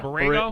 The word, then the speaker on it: Borrego: Yeah, Borrego.